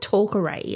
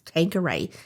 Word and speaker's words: Tanqueray: I think I said Talkeray, and my husband's like, why are you saying that? Why are you pronouncing it Talkeray? It's Tanqueray.